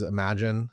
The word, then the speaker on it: Imagen: And then on the wedding and portrait side of things, I use Imagen. It's spelled Imagen AI for all my editing.